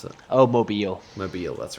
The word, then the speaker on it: Mobile: is it pronounced mobile or how do you pronounce it oh mobile mobile that's right um if it was around that